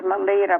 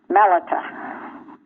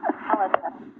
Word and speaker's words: Melita: I thought it was Melita, but I found out from the Pronouncing Dictionary and also from the first verse of chapter 28 that the emphasis is it's Melita.